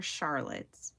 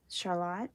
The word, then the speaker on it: Charlotte: I've been calling her Charlotte, and that's not how she pronounces her name. Charlotte is how she pronounces her name, I believe.